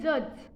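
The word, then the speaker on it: judge: बताने जा रही हूं वो है जज न्यायाधीश मतलब इसमें दी साइलेंट होता है कर ऐसे शब्द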